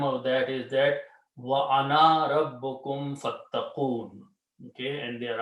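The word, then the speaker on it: أنا: This means that this alif should not be pronounced. Okay. Do not say ana, because if you stretch this word, then you are actually pronouncing noon and alif together.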